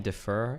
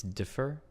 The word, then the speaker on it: differ: your desk hold on stop saying defer it's differ differ defer that differs from